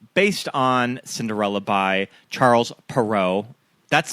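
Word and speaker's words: Perrault: Based on Cinderella by Charles Perau.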